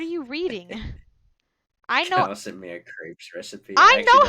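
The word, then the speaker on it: crêpe: good friend you bet no he's trolling your pronunciation it's a crap it's crepe no it's not i've it's literally a crap i've been in french class you rapped i think i think the actual pronunciation might be crap but i've always heard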